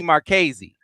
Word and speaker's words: Marchese: Brady Marchese. That's how you say his name. Tony DiChielli. We know how to say it. Brady Marchese.